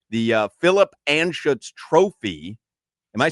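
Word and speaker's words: Anschutz: The uh Philip Anutz trophy. Am I saying it correctly? Yeah. Philip Anuts.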